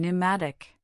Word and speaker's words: pneumatic: In words derived from Greek, the initial P in the diagraph PS is silent as in psychology. pterodactyl and pneumatic.